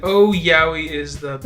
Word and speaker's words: yaoi: I think it was like, oh, yaoi is the best. No, it's yaoi, because yaoi is 2 syllables.